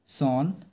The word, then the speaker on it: son: তারপর কি হলো দেখো, সিইং দিস, এটা দেখে দ্য ফুলিশ সন বা সান, ঠিক আছে, উচ্চারণটা সনই উচ্চারণ হয়ে আসছে, কিন্তু উচ্চারণটা আসলে সান এরকম উচ্চারণ হয়।